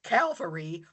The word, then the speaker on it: Calvary: When they refer to Jeff Stewart's Calvary by saying Cavalry out loud that now when the word Calvary comes up in a scripture reading during mass, my inner podcast critic wants to shout out Cavalry.